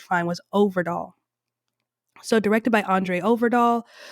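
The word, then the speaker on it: Øvredal: I went all over YouTube, tried to find interviews where people say his name, and that's the only one I could find was Overdahl.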